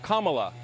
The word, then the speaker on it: Kamala: exciting to african americans her name is pronounced comma like the punctuation mark look kamala okay okay seriously i've